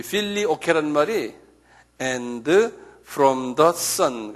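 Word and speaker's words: Filioque: 필리오케라고 그래요. 필리오케. 이건 조금 유식한 말인데 이거 적어놓으세요. 필리오케. 한번 발음해 보실래요? 필리오케.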